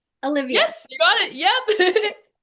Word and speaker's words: Alyvia: Olivia.